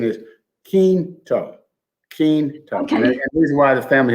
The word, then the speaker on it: Quinto: that but first let me tell you the pronunciation is keen to keen reason why the family has reminded me